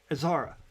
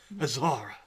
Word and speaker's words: Azara: And when you pronounce that, I know it's spelled A-Z dash A-R-A, but you're pronouncing it with like an H sound, aren't you? Yeah, I am. Say it for me again. Azara? Azara. Azara.